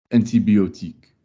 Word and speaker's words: antibiotique: Can you pronounce that with French vowels? Antibiotique.